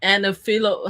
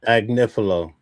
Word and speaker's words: Agnifilo: Anifilo. How do you pronounce his last name? Agnifilo.